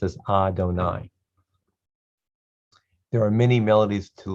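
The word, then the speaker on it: אֲדֹנָי: shem da low this is pronounced adonai it's a sight word we just have to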